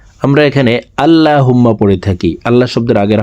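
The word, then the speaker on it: اللهم: আমার সঙ্গে বললে আপনাদের এই তারাবিহ নামাজের মোনাজাত মুখস্ত হয়ে যাবে এবং সহিহ শুদ্ধ উচ্চারণ হয়ে যাবে। দেখুন আল্লাহুম্মা। আমরা এখানে আল্লাহুম্মা পড়ে থাকি।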